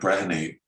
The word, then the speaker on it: Brehany: Is Frank Brehany, and I pronounced that right.